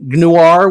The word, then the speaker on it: Gnoir: With me today is Angela Boyle, the creator of the story Gnoir with a silent G. I'm still going to try to pronounce the G every single time I say it.